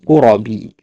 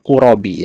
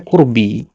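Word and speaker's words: قرب: Nah ini ya bacanya qurabi ya. Ya jalaul qurabi ya. Santri yang sudah lama belajar pun kadang yang mondok kadang pun kadang bacanya qurbi ya. Kalau enggak paham konteks kalimatnya. Ini yang benar adalah qurab ya.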